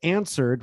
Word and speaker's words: answered: the W, and then we have answered where you don't pronounce the W. Answered.